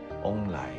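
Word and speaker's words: 旺来: 做旺来，因为他们的发音是翁来。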